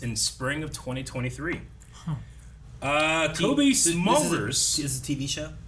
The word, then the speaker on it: Smulders: Kobe Smulders. This is a TV show. Yes. Kobe Smulders, Smulders, I think is how you say her name, Smulders, yeah.